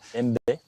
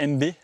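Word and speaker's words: Aime Bay: C'est MB. Alors MB A-I-M-E, plus loin B-A-Y à la porte. En fait, ça s'écrit comme ça, mais ça se prononce MB.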